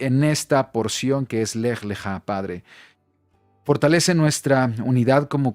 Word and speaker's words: Lej Leja: La parashá de esta semana es la parashá número tres y el nombre es la parashá lej leja. Importante, así es como se pronuncia en la fonética, lej leja.